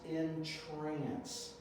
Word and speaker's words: entrance: just like it but it is pronounced in trance so entrance is a